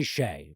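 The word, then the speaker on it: Hsieh: mean or i sorry i never know how to say his name's tony shea but it's spelling like fucking hash or something like that and uh and also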